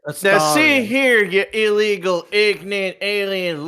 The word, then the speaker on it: Astarion: Name wrong. It's Astarion? Astarion. Astarion. Oh, It's not pardon Astarion.